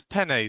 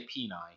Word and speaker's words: Sewell: We'll pronounce Sewell's name like the pasta penne. He was on that shared selfie post. It is penne, Sewell. Yes, but you normally say, well, you sometimes say peni.